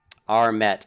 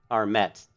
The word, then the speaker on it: Armet: Armet. Okay, so I was right. It's Armet, not Arme.